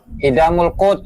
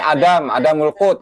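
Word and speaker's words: Idam al-Qut: Idamul Qut. Nah, tuh bacanya dia tuh salah tuh Gus Alkemi. Gus Alkemi tuh bacanya salah, katanya al-alim al-allamah. Bacanya aja salah tuh, Idamul Qut. Ini Adamul Qut katanya.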